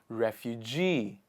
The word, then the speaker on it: refugee: move are called refugee refugee the stress comes on the last part of the word refugee the next one